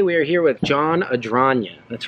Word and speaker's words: Adragna: Spelled like Adragna. Like a dragon, because he is kind of like the lizard king. Yeah, there is a dragon in the name.